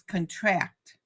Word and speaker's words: contract: The former is the noun. Sign this contract. Um, Whereas the latter is a verb. The muscles contract. So see, it's the same word, contract and contract, but they're spelled the same, but you emphasize the same record, same with